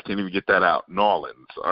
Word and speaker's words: New Orleans: Brian, it's New Orleans. That's how they say it down there, is New Orleans. Now, New Orleans, New Orleans.